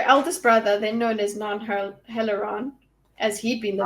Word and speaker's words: Nan: And it's interesting to note it's spelled N-A-N, and the Nons of the Dark Eyes are N-A-H-N, but clearly they sound similar.